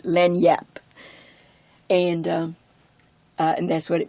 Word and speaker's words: lagniappe: J's Len yep doesn't it's not spelled like it sounds and I don't have the Louisiana accent but it is very it's a very flat word lend yep and and that's what